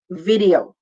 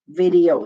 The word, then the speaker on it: video: 3 syllables. V-D-O. Video. Video. Lagyan mo lang ng Y before the O. Video. So that's how we say it.